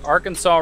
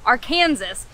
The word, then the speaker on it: Arkansas: Also, the locals, and by those, I mean all the Uber drivers we've had here, have been saying Arkansas. So maybe in these parts, you pronounce it Little and Big Arkansas?